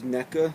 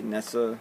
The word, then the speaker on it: NECA: giant NECA capitalize that you see NECA I don't know maybe they say Nessa but I just call it NECA I've never heard an official pronunciation on it but it's their Rambo